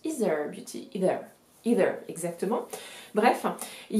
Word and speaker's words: Aether Beauty: Donc ça s'écrit Aether Beauty, mais ça se prononce Ether Beauty, Ether, exactement.